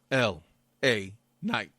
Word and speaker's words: LA Knight: LA Knight.